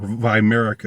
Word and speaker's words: Weimar: with you know with VI whyer or Viera if you want to pronounce it the German Way um you know what's